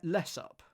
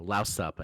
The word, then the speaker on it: louse up: I mean, I think it's pronounced louse up. As in with the stress like to rhyme with mess up. So less up. No, louse up as in mess up.